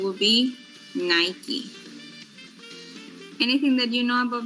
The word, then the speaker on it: Nike: Nike. Nike. But we commonly, people said, Nike, right? We said Nike. But the correct pronunciation would be Nike.